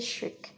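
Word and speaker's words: chic: আমাদের last idiomatic এক্সপ্রেশনটি হচ্ছে ইফোর্টলেসলি শিক, এটির উচ্চারণ হচ্ছে শিক।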